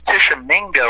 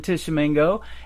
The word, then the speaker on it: Tishomingo: One of the places I'm playing, and I think it's Tishomingo, I think is how you pronounce it, is Old Red.